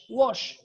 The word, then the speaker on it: wash: And the SH in English we pronounce it sh, without the T. The first one now, ch, watch, but this wash. Okay? Sh, wash. Like wash or wish.